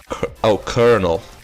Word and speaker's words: colonel: But I'll break it to you, which is actually pronounced Colonel.